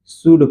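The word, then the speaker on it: should: एच ओ यू एल डी इसे क्या पढ़ेंगे शुड पढ़ेंगे क्या पढ़ेंगे शुड पढ़ेंगे ठीक और क्या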